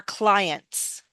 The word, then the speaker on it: clients: The t is silent somehow, right? No. Ins client. One client. Two or more clients.